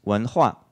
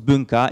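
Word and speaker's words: 文化: Un autre exemple, donc si vous prenez le dictionnaire de chinois MDBG, que vous cherchez ces deux caractères-là, vous apprendrez qu'il se prononce Wanhua et qu'il signifie civilisation ou culture.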